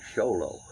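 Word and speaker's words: Xolo: where the mama lived that is called a show low x o l o it's actually a longer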